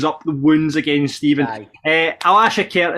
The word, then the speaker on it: Alashkert: Alashkert is how we decide to go with it.